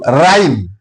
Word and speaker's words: rhyme: letter R for example rhyme R H1 I m e here h is silent rhythm here h is